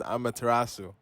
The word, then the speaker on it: Amaterasu: hear in the video you hear me say amateur about this area like it's on eurovision or something but uh this is actually pronounced amaterasu okay so ignore the mispronunciation in the video